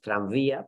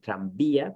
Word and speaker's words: tranvía: Pero claro, podemos tener palabras como tranvía, donde hay una V, ¿no?, escrita, pero realmente no pronunciamos tranvía, pero sí pronunciamos tranvía con B digamos, fuerte, oclusiva, ¿no?